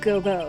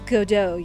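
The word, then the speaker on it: Godot: a prosecutor Gobo it's not goo it's godo your honor I guess in a way that gives you an idea of how to pronounce his name cuz I know like I could see people mistaking it for like God do or go or whatever but it's like it's supposed it sounds French almost where it's like you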